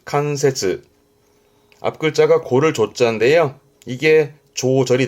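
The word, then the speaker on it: 関節: 이게 관절, 뼈 마디마디 관절에 칸세즈, 칸세즈.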